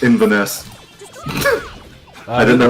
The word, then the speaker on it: Inverness: It's pronounced Inverness.